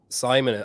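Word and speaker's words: Simen: and how many coaches are there is uh Simon I was saying his name right because I know it's spelled s-i-m-e-n so is he your coach he's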